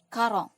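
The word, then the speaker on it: quarante: 40 tadi sudah tahu ya cara pengucapannya yaitu karong.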